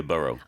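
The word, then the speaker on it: borough: means the same thing b r o u g h however in some American pronunciations we you will hear burrow complaints about bed bucks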